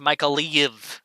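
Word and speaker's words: Mykolaiv: areas here first yeah as mother sake says michael leave is pronounced micah leave yeah michael leave i i know it's a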